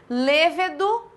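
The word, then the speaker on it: lêvedo: Lévedo, proparoxítona. Munícipe, proparoxítona. Então, nós temos alguns momentos em que a gente acaba pronunciando errada a palavra e, principalmente aqui, que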